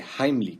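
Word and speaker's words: Heimlich: vídeo la maniobra de jambly que por cierto esa es la pronunciación correcta porque está en alemán la mayoría dice pero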